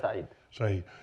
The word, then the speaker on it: Khaled Said: Khaled Said, is that the way you pronounce it? Khaled Said.